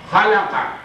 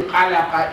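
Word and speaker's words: خلق: it must not be alaqa, it must not be mixed with other letters, similar letters, no. This letter is with dot at the top, khalaqa. It must be khalaqa, it is not halaqa.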